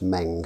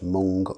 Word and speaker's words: Meng: be taking a look kit from Ming that's Meng not Hmong or Ming as I've heard it pronounced Hmong of course as a bean and